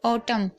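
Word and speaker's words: autumn: अच्छे से समझ लीजिएगा, एम है और एन साथ में हो तो एम के बाद एन साइलेंट रहता है। जैसे कि आप यहाँ पर भी देख रहे हैं ऑटम, तो यहाँ पर आप देख रहे हैं यहाँ पर एन को नहीं पढ़ा जा रहा है।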